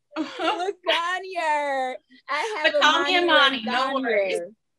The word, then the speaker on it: Legangneur: Legangneur. Legangneur.